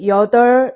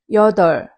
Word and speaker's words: 여덟: When you say 여덟 in Korean, 여덟, don't say like 여덟, 여덟, 여덟, 아니에요. 여덟, 여덟. It's more like la.